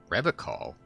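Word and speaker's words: Revachol: He pronounces Revocol with a hard K, unlike other. Yeah, we get to notice it. You said Revocol? I like to pronounce it the hard way, the old way, the Vespertine way.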